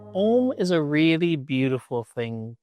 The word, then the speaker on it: Om: The most common way written down is you see O-M, Om. But in a more traditional or classical sense, you would see Om spelled out phonetically in a different way, which would be A-U-M. Ah, O, M.